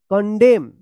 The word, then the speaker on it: condemn: CONDEMN देखिए MN एक साथ है तो एन उच्चारण नहीं होगा। कंडेम, कंडेम पढ़ेंगे कंडेम।